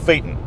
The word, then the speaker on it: Phaeton: for salespeople and for text they show the pronunciation they want for this car fa y t om Phaeton the strange and ridiculous thing about these cars